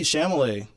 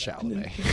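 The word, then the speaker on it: Chalamet: of Arachus and Timothy Shamlet probably his best performance of his career so far. We've made a joke of saying his name wrong. It's Shalam.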